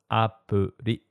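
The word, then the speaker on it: アプリ: It sounds kind of like the American T in better or butter. If you speak Spanish, it's like the soft R in rico, so it's pronounced appuri.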